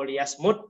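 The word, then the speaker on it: ليصمت: Tapi bukan mute sih dibacanya, ya. Aw liyasmut katanya, kalau hadis itu bukan auliyanya, sama disuruh diam, ya.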